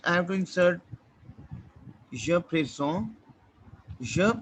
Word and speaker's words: présente: It is just I have to insert je présente. Je présente. Now over here we have e ending, right? So t would be pronounced.